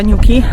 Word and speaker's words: Newquay: ten przypadek Przyjechaliśmy na koniec tego miasteczka miasteczka niuki nawet pytałam pana którymi sprzedawał lody czy aby na pewno dobrze wymawiamy tą nazwę to jest tak właśnie skończyliśmy